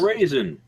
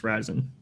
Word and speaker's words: Ryzen: No raisin. No, the article said it's pronounced Ryzen.